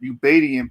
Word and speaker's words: Ubaidian: when he brought that, or Ubaidian people, really, that's how you say it.